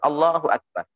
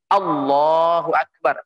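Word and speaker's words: الله أكبر: ini yang ketiga penting tidak memanjangkan hamzahnya lafdzul jalalah tidak memanjangkan lafadz a-dha lam Allah itu deh langsung allahuakbar jangan mengucapkan Allohuakbar ini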